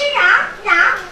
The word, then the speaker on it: 瓤: 吃西瓜吃瓤，哎，声调要向上。吃西瓜吃瓤，哎，往上一点啊！